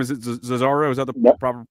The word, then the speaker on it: Zozzaro: Is it Zozzaro? Is that the proper pronunciation?